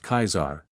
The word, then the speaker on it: Caesar: They are still embroiled in their civil war over who will ascend as the next Caesar, pronounced Kaisar, since it's the Legion, but this conflict